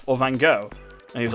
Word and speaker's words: Van Gogh: only thinking da vinci it's not davinci um van gogh um style background that everyone likes yeah i